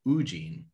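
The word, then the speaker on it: Woo-jin: the mastermind teen so like eugene but instead of you it's ooh oo jin jin yeah okay i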